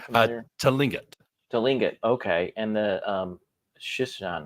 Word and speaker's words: Tlingit: So the tribes, though, are the Tinlet, I believe it's pronounced, and the Shishiman, maybe. Does that sound familiar? Tlingit.